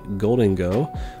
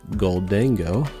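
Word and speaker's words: Gholdengo: And Tandemus on top of just a Goldingo, or I've heard some people pronounce it Goldango.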